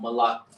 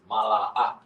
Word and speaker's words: Mala'ak: Mala'ak. Not Malak. Not Malak. Malak is king. But angel is Mala'ak.